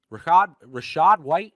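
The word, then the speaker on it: Rachaad White: Rashad White, is that how you say it?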